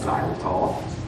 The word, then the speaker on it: xylitol: And a lot of the gums now have something called xylitol, spelled with an X.